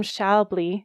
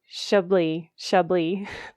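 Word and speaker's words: Schaeuble: Another one is a fellow podcast coach, extraordinaire, Adam Shalbley. Excuse me. I always say his name wrong. Shably.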